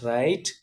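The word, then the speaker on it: read: அப்படிங்கிற வெர்பை பயன்படுத்தும் போது அதனுடைய உச்சரிப்பு வந்து மாறும் எக்ஸாம்பிள் பாருங்க வெர்ப் ஒன்னு இருக்கு இல்லையா அதை வந்து ரீட் அப்படின்னு உச்சரிக்கணும் வெர்ப் டூவை வந்து ரெட் அப்படின்னு உச்சரிக்கணும் வெர்ப் த்ரீயை வந்து ரெட் அப்படின்னுதான் உச்சரிக்கணும் அதாவது ரீட் ரெட் ரெட் அப்படின்னு உச்சரிக்கணும் இப்போ எக்ஸாம்பிள் சென்டன்ஸ் பாருங்க நேற்று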